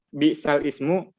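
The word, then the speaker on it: بئس الاسم: Ya, jadi ayat-ayat yang memang tulisannya bisal ismu, Iya. mungkin, tapi dibacanya jadi bisalismu.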